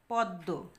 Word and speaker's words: পদ্ম: চন্দ্রবিন্দু দিয়ে প্রকাশ করেছি পদ্ম পদ্ম এখানে দেখো দর ম ফলা যুক্ত ছিল আমরা উচ্চারণের সময় দ দুইবার উচ্চারণ করেছি কারণ আমরা জানি শব্দের